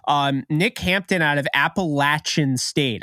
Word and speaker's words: Appalachian: Nick Hampton out of Appalachian State I'm now saying Appalachian because I had the Appalachian you know cancel people came at me it was like you need to pronounce it the right way and I was like